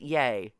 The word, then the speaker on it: Ye: yeah no it's E I think he pronounces it yay as in here's how